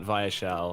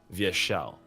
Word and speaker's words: Vyeshal: and I'm like no it's not vile it's via shell and we had to